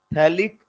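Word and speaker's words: phthalic: PH silent रहता है। क्या बोलते हैं इसको? थैलिक acid.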